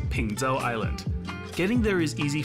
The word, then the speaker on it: Peng Chau: It's actually pronounced Pengzhou Island.